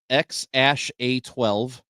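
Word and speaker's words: X Æ A-Xii: This one is spelled, it's got Roman numerals in it, but it is pronounced X-A12.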